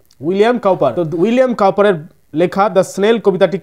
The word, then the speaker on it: William Cowper: একটা কবি লিখেছেন তো সেই কোভিদ নাম হচ্ছে উইলিয়াম কাউপার উচ্চারণটা ভালো করে করতে হবে উইলিয়াম কাউপার সিও ডবউ পি উইলিয়াম কাউপার উইলিয়াম কাউপারের লেখা সনেল কবিতাটি কি বলছে সেটি